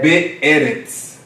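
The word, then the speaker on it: בארץ: Be'eretz. Be. Be'eretz. Be'eretz. 3 sílabas.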